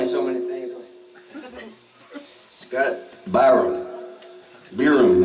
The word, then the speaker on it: Biram: Biram is okay, because at least it sounds like it looks like it's spelled.